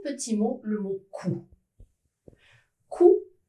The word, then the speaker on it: coup: Coup, c'est un mot masculin qui se termine avec un P, mais cette dernière lettre n'est pas prononcée. On ne dit pas coupe, attention, on dit coup.